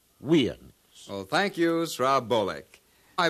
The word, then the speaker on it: USA: the disc of oans now we know that usans is incorrect and the symbols USA are properly pronounced weans well thank you srack I believe San is